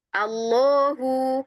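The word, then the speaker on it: الله: Nah, dia di situ masih tipis bismillah bukan bismillahi. Nah, ya. Tapi ketika setelah ee ketika huruf H ya Allah kan akhirannya huruf ha ya. Ketika harakatnya adalah fathah ya, maka dia dibaca tebal.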